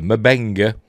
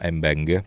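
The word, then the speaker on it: M'Benga: have reminded that uh mabenga not embenga although everybody everybody pronounced the M Banker but I'm still going with merbing uh you know fight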